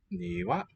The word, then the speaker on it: 庭: Niwa, Niwa. Garden. Or yard. 庭、 Niwa. With an upstep there. 窓、 Mado. Downstep. One of the rarer type in a two-syllable one.